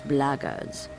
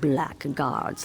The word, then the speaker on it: blackguards: another one of those blaggards and that's the way to pronounce it not blackguards like that thug insisted it